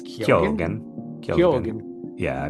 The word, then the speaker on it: Keoghan: I was just like Keegan. I always thought it was, but then I heard it pronounced. It's I'm pretty sure it's Keoghan?